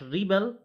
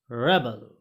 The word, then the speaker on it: rebel: The pronunciation of this is not rebel, it is rebel.